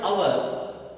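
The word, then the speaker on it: hour: In this case, the first letter is H, that is a consonant. H is a consonant. But here it is not going to be pronounced. It will be silent.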